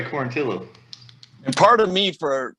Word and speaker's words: Quarantillo: Is that how you say it? Because that's the rule. Traditionally, yes, but this guy goes by Quarantillo.